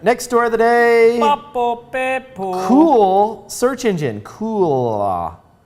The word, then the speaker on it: Cuil: thank you thank you that's exactly how it's pronounced uh cruel launches cruel cool launches a massive search engine with an index